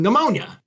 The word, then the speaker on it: pneumonia: Just like you don't say the P in pneumonia.